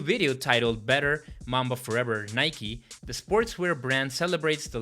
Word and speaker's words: Nike: And to honor the late basketball legend, Nike, yes, it is pronounced Nike, released a tribute video narrated by Kendrick Lamar.